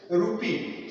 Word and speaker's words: rupee: Rupee. So rupee, rupee. So ru is slightly stressed.